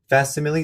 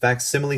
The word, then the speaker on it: facsimile: which is currently entitled fast simile signatures or mile i'm sorry facsimile it is pronounced facsimile signatures and lists the